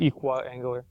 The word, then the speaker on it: equiangular: it with me no everyone say equal everyone say angular combine those together equal angular there you go it's actually it's actually equiangular most P will probably